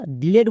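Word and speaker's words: delete: টি এর জন্য টো শেষের ই সাইলেন্ট একসঙ্গে উচ্চারণ করো ডিলিট তাহলে আমরা ডিলিট বলছিলাম তার মানে ভুল উচ্চারণ করছিলাম এই ওয়ার্ডটির সঠিক উচ্চারণ হবে ডিলিট আজকের পর থেকে কেউ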